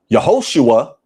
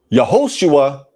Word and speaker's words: Yehoshua: The name of the Messiah, from my research, is pronounced Yahusha, Yehoshua, Yeshua.